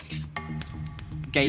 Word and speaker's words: Gaelic: So Gaelic yeah, and that's how it's pronounced in Ireland.